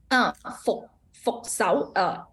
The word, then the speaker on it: Fok Sao: Fok Sao. This one is just FUK. Oh, UK pronounce like sixth tone is so Fok Sao.